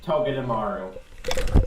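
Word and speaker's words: Togedemaru: clone, is mostly because I love how to pronounce its name, and that is Toge Dearu.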